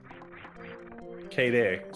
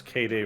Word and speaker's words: Kaede: ludicrous all right kada is leaving yons KDAY sorry yes KDAY rukawa C rwa I say it properly in my head and then my mouth just fails me miserably uh K checking the